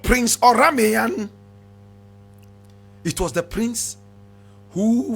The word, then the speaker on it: Oranmiyan: Now, Oramiyan, my brother, my sister, is spelled O-R-A-M, yes, O-R-A-N-M-I-Y-A-N. Oramiyan.